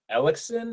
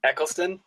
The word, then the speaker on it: Eccleston: Uh, are we Kanye West or Christopher Ellickson? Is that how you pronounce his name? Eccleston.